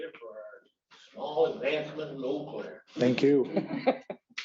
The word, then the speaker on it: Eau Claire: Thank you, Commissioner, 100% appreciate it for our small advancement in Eau Claire. Thank you. That's how you say it. Okay. Just like the one in Wisconsin.